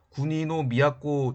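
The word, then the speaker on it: 国造: 그 다음에 군지는 지방 호족인 국조, 일본어 발음으로 군이노 미야코 집안에서 임명합니다.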